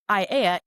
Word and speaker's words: Aiea: Any white person say Aiea, right? All vowels.